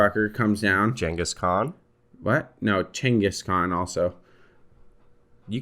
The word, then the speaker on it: Genghis Khan: __ ] comes down Genghis Khan what no chinguscon also you can't call him that chingiscon is how it's pronounced that sounds like a